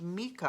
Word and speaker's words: Micah: learn about micah that's m-i-c-a-h now i've heard it pronounced mika i have a friend who's named their son mika but most people i hear pronounce it micah so here we go